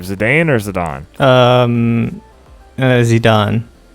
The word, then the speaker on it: Zidane: Zidane. I say Zidane, but I know in Dissidia they said Zidane, and I was like, it's a French name.